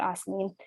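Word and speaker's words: ocimene: But Ostamine is another one of my favorites, or Ostamine. I've heard it pronounced both ways, but I always call it Ostamine because I think of awesome.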